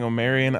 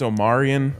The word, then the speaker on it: Omarion: Both of you guys are saying Omarion. I think it's Omarion.